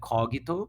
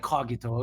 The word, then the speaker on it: Cogito: you can call it kito which is actually the correct pronunciation in Latin. So we'll call it kogito.